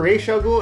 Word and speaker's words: Ra's al Ghul: Yeah, so I prefer Raish al Ghul.